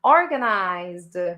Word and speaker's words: organized: I'm organized. Remember, the stress is in o.